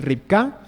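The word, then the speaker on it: רבקה: al idioma Castellano pero en hebreo realmente la pronunciación más correcta es ripka y significa justamente lazo pero viene justamente de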